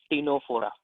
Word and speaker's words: Ctenophora: ठीक है, इसको प्रोनाउंस करेंगे हम लोग टीनोफोरा।